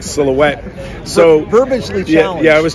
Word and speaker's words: Silhouette: There's not even an H in there. So we referred to it as the Shilohetti for years.